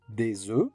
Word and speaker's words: œufs: X is pronounced, or des œufs, in which neither the O nor U nor F nor S is pronounced.